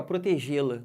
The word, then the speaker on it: protegê-la: O lá também é fraquinho. Eu não falo protegê-la. Eu falo como? Protegê-la. Esse lá vem bem fraco. Ele é átono, não leva acento.